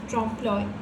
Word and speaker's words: trompe-l'oeil: So the spelling is and it is pronounced trompe-l'oeil.